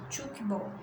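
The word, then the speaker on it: tchoukball: Pronuncia-se chukball.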